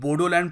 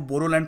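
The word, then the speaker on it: Boroland: हालांकि मैं आपको ये बता दूं कि आसाम में जो बोडो ट्राइब के लोग हैं वो बोडोलैंड प्रोनाउंस नहीं करते, वो बोरोलैंड प्रोनाउंस करते हैं, BORO, और ख़ुद को बोडो भी नहीं कहते, बोरो कहते हैं।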